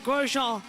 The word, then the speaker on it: Grosjean: That's Lundgaard trying to throw it on the inside of Romain Grosjean down into turn 1. And I am saying it correctly. It's Grosjean.